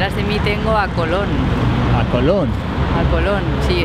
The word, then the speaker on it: Colón: mucha diferencia la tilde hace la diferencia totalmente Colón este tío de aquí atrás colon que no lleva tilde es en inglés colon colon pero del